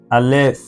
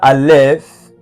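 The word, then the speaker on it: alef: Now how is it pronounced? It is silent. Now you might be surprised and you are you are confused. Yes, in Hebrew the letter alf is silent, right?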